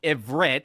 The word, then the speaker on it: Ivrit: wasn't called Hebrew; it was called Ivrit.